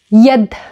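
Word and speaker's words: يد: Here, we put, when we write, we put the long vowel E, but we pronounce it as yed, y, not E, y.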